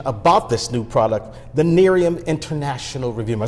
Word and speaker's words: Nerium: that's online information about this new product the Nerium International review am I saying that right you're